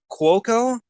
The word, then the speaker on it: Cuoco: Oh God, I'm gonna butcher the pronunciation of her last name. Cuoco.